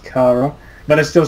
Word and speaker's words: Chara: oh yeah uh you you'd be the perfect Chara honestly actually it's actually pronounced Cara I just realized yesterday it's pronounced Cara but I still say Chara because it sounds